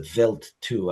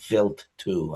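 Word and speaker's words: Wild 2: It's spelled wild, but it's actually pronounced a vilt too. I've heard many solar system ambassador presentations by PhDs and it's pronounced vilt too.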